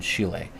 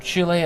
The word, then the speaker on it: Schiele: U, but you can see like this image by David Bowie is directly inspired by the work of Egon Chile, right?